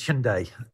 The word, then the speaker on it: Hyundai: most people would say hyundai and i've heard hyundai what is the right pronunciation because obviously it's a korean word the korean pronunciation is hyundai sunday it has a good